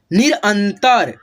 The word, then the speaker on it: निरंतर: दिक्कत, निरंतर, निरंतर, ये जो न है ना आधा, न से पहले अ का उच्चारण होगा, ठीक है, थोड़ा सा अ का उच्चारण होगा, निरंतर, ठीक है, ऐसे।